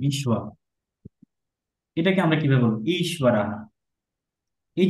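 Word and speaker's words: ঈশ্বরঃ: এটা উচ্চারণ হবে ঈশ্বরাহ। ঈশ্বরः। কিন্তু ঈশ্বরः। এটা একটু স্ট্রেচ সাইন হবে। যেমন ধরুন ঈশ্বরাহ, ঈশ্বর রাহা, এই হাতে একটু সাউন্ড হবে, এখানে একটু স্ট্রেচ সাইন হবে। আবার এখানে একটু দীর্ঘ উচ্চারণ হবে, হ্যাঁ, এটা লং সাউন্ড হবে, ঈশ্বরাহ।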